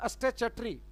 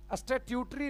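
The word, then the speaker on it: statutory: स्टैच्यूटरी। स्टैट्यूटरी नहीं, चा का उच्चारण होता है। स्टे पहले सही था, स्टैच्यूट था, अब इसको पढ़ेंगे स्टैच्यूटरी, चा आधा चा का उच्चारण लोगे, स्टैच्यूटरी।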